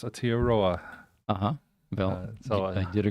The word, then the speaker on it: Aotearoa: So Thomas Curtis, Kia Ora from Aotearoa. Aotearoa, okay.